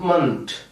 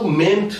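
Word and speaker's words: -ment: অর্থাৎ লজি, MENT অর্থাৎ মান্ট। এটির উচ্চারণ কিন্তু মেন্ট না, আমরা সাধারণত বাংলাদেশে যারা থাকি মেন্ট উচ্চারণ করে থাকি। এর সঠিক উচ্চারণ মান্ট, ছোট করে একটা আ, মান্ট।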